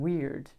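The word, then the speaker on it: Wyrd: This is, it says weird, pronunciation weird.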